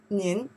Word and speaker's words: 您: here okay then 撇竖折钩点点 oh that's a character pronounce what 您 what is the meaning 三名词是 you 你But in Chinese here, more specific, say the polite person.